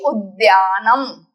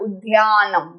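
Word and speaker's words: उद्यानम्: Pakshi Udyanam. Not Udyanam. Dhya नहीं बोलना है, दया बोलना है.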